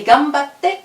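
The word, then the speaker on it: がんばって: Bonne chance et gambatte kudasai. Gambatte, donc il y a 2 T, on coupe batte kudasai. Donc, ici, le kudasai, on a appris que ça voulait dire s'il vous plaît.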